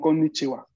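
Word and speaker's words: こんにちは: Pero actualmente la sílaba que escribimos es ha al final. Y en algunos casos, como en los saludos, se va a pronunciar wa.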